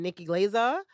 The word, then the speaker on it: Nikki Glazer: was like after I seen Sam J and Nikki Glazer that's how you say her name yeah yeah